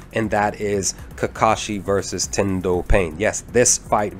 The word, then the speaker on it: Tendo Pain: tendo pain yes that's how i that's how pronounced his name tendo pain you know we have his character he literally